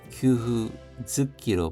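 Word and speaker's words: 給付付き: 쯔끄 하면 붙다, 달라붙다 인데 합쳐져서 규후 즈키로 발음이 바뀌었습니다.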